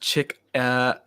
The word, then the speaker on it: Chickamauga: It's phonetically pronounced Chickamauga.